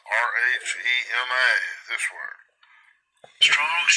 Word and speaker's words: Rhema: Now this is 4487, it's Rhema, R-H-E-M-A, this word.